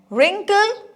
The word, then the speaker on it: wrinkle: So, I am not reading this word. So, because W is silent here.